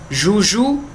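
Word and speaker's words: joujou: Genou, genou no singular e no plural, mesma pronúncia. Joelho. Ibu no singular e no plural, mesma coisa. Ibu, que é coruja. Juju, tanto no singular quanto no plural.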